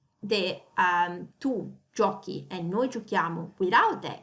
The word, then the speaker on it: giochiamo: Because if we were to say the tu giochi and noi giochiamo without the H, how would we pronounce it? Differently. We would pronounce it tu giochi e noi giociamo.